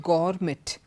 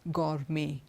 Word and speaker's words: gourmet: M et it's not garmet it's gourmet we don't pronounce the T at the end so in all these